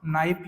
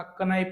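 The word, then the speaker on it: knife: आपण उच्चार करत नाही जस की काय नाईप या शब्दामध्ये आपण केचा उच्चार करत नाही आपण नाईक म्हणत असताना कनाईप नाही म्हणत किंवा आपण नॉलेज म्हणत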